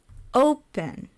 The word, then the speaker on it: open: on the second syllable open open stresses on the first syllable so it's loud and then soft open prefer prefer stress is